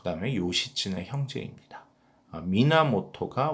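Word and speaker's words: 源: 미나모토가 원시를 또 발음하는 방법이 미나모토, 그래서 원시 또는 미나모토라고 부르시면 되겠고요.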